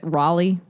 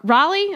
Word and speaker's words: Raleigh: well I should say I'm assuming it's Reilly because it's Raleigh North Carolina okay um he never